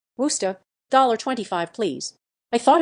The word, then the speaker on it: Worcester: kind that lives in Massachusetts that's how you pronounce the city of Worcester Worcester dollar 25 please I thought it was used